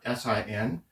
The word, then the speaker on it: sine: We'll use the shortcut sin, theta. Some people pronounce the sine, some people pronounce it sin. Both are okay.